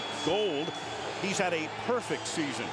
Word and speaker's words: Gould: And speaking of kickers, Robbie Gould will be kicking off for the Chicago Bears, and that is the way it's pronounced, G-O-U-L-D, pronounced Gold.